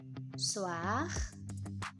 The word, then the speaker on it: soir: Jadi misalnya soir, soir itu dibunyikan R-nya.